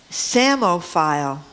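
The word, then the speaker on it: psammophile: Samo file. That one is pronounced right, by the way. That's how you pronounce That's how you That's said phonetically.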